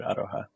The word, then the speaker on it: aroha: of New Zealand but it actually pronounces pronounces very similar to to a Spanish word aroha yeah oh that's cool